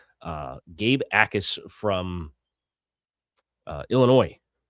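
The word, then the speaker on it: Jacas: Uh Gabe Ais, the J is silent. It's spelled J A C A S. Uh Gabe Ais from uh Illinois, 6'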